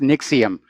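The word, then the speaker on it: NXIVM: and by the way I think it's pronounced Nix iam despite the way it's spelled but yeah the allegations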